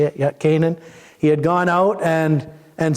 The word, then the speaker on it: Canaan: Yeah, Canaan.